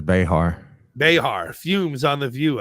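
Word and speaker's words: Behar: pissed off Joy beair how do you pronounce it beair I think she says bear bear fumes on The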